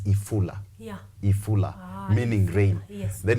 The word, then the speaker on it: ifula: So at the end of the day, as we are building this story about FULA, FULA in a Luya dialect is rain. Rain. But it's supposed to be pronounced as ifula.